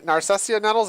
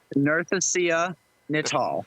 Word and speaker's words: Narcissia Netal: Narcissia Narcissia Netals, or please change our pronunciation. We're Narcissia Netal.